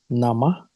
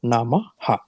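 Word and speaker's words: नमः: When you say Om Saraswatye Namah, it is Nama, not Namaha. The Nama ends with 2 dots. It doesn't end with a Ha. It is not pronounced as Ha.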